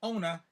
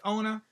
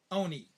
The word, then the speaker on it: Ona: we have here, Never Caught, the story of Ona Judge. That's not Ona Judge, that's Ona. That's her name. She's known as Ona, or some people call her Oni.